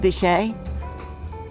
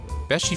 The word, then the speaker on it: Beachy: It's not pronounced Bichet. Beachy Furniture, located next to the Mermaid a few miles from the Delaware beaches on US Route 9.